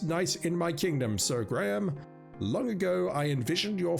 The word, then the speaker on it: Graham: It is definitely pronounced Graham. I sometimes say that name is Graham. If I do that, forgive me, I'm not good with that name.